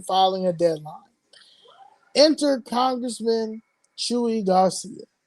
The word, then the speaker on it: Chuy: Enter Congressman Chewy Garcia, pronounced Chewy as in Chewbacca of Star Wars.